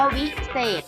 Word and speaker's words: วิเศษ: เข้า ไป แล้ว ก็ จะ อ่าน ว่า วิเศษ นะ คะ ออก เสียง เหมือน มี รอย เด็ก เป็น ตัว สะกด ค่ะ ต่อ ไป